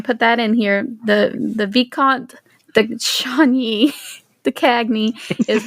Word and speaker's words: Viscount: That's the rumor I've heard is that Yes, it's pronounced Viscount. Viscount. I think it's Viscount, like discount.